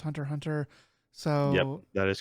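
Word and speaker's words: Hunter × Hunter: doesn't actually mean anything it's like a silent x almost like like hunter hunter i think is supposed to be pronounced just hunter hunter so that is correct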